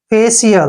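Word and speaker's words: facial: आवाज आ रही है फेशियल देखिए स की साउंड आ रही है क्यों आ रही है क्योंकि सी के बाद आई ए आया है ठीक है ना आई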